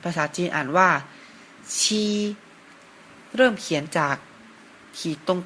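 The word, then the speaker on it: 七: นะ ครับ เลข 7 ภาษา จีน อ่าน ว่า ชี เริ่ม เขียน จาก ขีด ตรง กลาง ก่อน นะ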